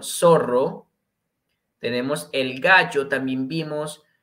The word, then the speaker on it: zorro: El ratón, el zorro, doble R, ojo con esta pronunciación, zorro.